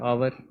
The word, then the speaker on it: hour: Silent H से पहले, silent H क्योंकि अलिफ की आवाज़ दे रहा है आवर, इससे पहले हम एन लगाएंगे।